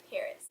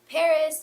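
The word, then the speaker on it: PVRIS: start off talking about Paris Paris spelled p v r i s um they replac the A's with the with v's and I just think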